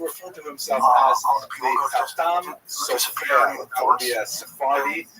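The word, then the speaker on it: Chatam Sofer: Khatam Sofer, Sephardi pronunciation. Obviously, some of the consonants are slightly different, and the emphasis tends to be on the last syllable.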